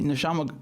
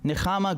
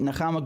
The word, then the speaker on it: Nechama: Also, my name is pronounced with a cha sound, meaning comfort in Hebrew. Aha. So hold on. Nechama. Is that the way we say it? Nechama.